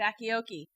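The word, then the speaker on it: Bachiochi: Kathryn, how do you pronounce it? Bacchiochi.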